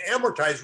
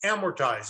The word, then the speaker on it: amortize: amortize that loan and amortize remember is a three syllable word it's the second most